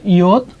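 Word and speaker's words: עדות: is the word that iyot. और ये है इयोत। As you all know that it is a ayin which is silent.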